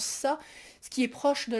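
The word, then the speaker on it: 사: très appréciée parce que dans sa prononciation sino-coréenne il se prononce sa ce qui est proche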